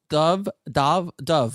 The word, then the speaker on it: Dov: Dove, like Dove Simmons.